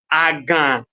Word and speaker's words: agan: When we pronounced aga, you did not hear anything like in it, right? But when I'm pronouncing agan, you are hearing the sound. That is to show that the word agan ends with a nasal vowel, right?